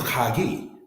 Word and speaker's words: Haggai: Haggai is pronounced as Hagi, which means my pilgrimage or my feast.